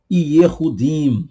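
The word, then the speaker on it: יהודים: Por exemplo, nós temos aí os judeus eram conhecidos como Yehudim, tá aí no hebraico, Yehudim, tá? Guarda isso aqui mais uma vez devagarzinho para você pronunciar. Yehudim, dim, ok?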